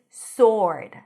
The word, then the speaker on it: sword: The next word is sword. Sword. No w.